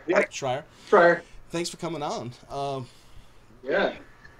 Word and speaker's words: Schrier: Schrier. Yeah. Schrier.